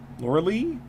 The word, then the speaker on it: Loreley: The Loreley, that's how you pronounce it.